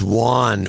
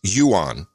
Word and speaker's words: yuan: The Chinese yuan was a beautiful, clean, brand new note, and